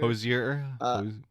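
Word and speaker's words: Hozier: let the people speak umer is that how it's pronounced Hosier hoser Hosier definitely the respect women juice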